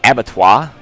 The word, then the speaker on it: Abattoir: Then we have Abattoir, and that is how you pronounce that.